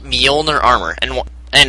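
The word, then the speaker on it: Mjolnir: is this armor covered in well it's called molner armor and and it's spelled MJ o l n i r I believe molner it's actually named after Thor this Hammer Thor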